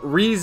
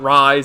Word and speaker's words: Rize: Although I do know Rize, well, Rise, pronounced Rize. I know it's Rize too, not Rise as it's spelled.